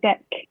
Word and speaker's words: Deq: Yeah, How do you pronounce it properly? it's called Deck.